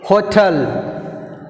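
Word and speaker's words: hotel: Next word హోటల్, హోటల్, హోటల్, second syllable tea. So T is second syllable, so we put a stress mark on T.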